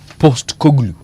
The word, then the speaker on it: Postecoglou: It is post like poster, and then ECOGLOU. Post Koglu.